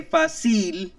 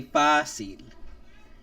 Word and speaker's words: fácil: Again, no vowel, no N, nor S, and fácil has two syllables in it. And I know we don't say fácil, so we say fácil.